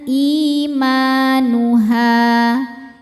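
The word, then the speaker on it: إِيمَانُهَا: Imanuha, ha juga sama mad tobi'i dhahiri karena ada alif sebelumnya fathah, dibacanya panjang 2 harokat. Jadi ini walaupun berhenti haknya 2 aja, jangan jadi lebih panjang dari 2 ya.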